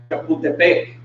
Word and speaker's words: Chapultepec: Chapultepec, which is pronounced Chapultepec.